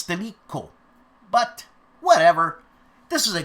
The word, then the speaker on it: Stilicho: Also, I don't know how to pronounce this, but it's Stilicho. But Cho. That's not the way you spell Cho in Italian, but I fear it's Stilico.